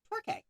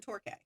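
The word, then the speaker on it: Torquay: a holiday camp at a seaside town called Torqu. If I mispronounced that, I apologize, but it's t o r q u a y.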